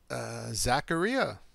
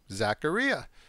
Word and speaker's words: Zaccaria: Now we're going to get Zaccaria. Rhymes with pizzeria. Zaccaria.